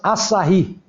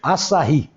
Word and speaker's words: Asahi: Mas lá para o final da década de 30 começaram a vir as primeiras japonesas, a Asahi. É assim que pronuncia, eu acho. Asahi.